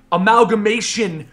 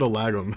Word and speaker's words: amalgamation: Did I say it right this time? You did. Yes. Okay. Yeah, he said, okay, guys, for those of you guys who don't know in the pre-show, Benny said alagum, or alagum or something like that.